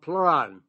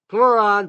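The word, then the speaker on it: Pleuran: There's an extract called pluron from oyster mushrooms.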